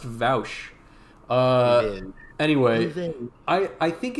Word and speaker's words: Vaush: being, yes, of course, Vosh. Yeah, Vosh has never been in a controversy. I'm not familiar with that. But the whole Vosh thing is a political streamer. No, actually, I think it's pronounced Vaush.